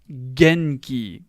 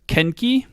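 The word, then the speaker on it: 元気: what it means and it's pronunciation is drum or - genki genki genki they're trying to trick you with ken key I don't even know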